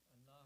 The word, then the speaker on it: Allah: Allah will be pronounced light because mim before that is kasra, has kasra.